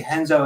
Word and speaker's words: Renzo: When we say Henzo it's R N Zo but they pronounce their Rs with an H.